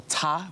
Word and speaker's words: Ta: But about my work, the title of my work is Da or Ta. It's spelled T-A.